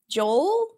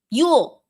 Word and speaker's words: Yule: I don't know how to pronounce this, Sam. Happy Yule? Joel? Jewel? Yule.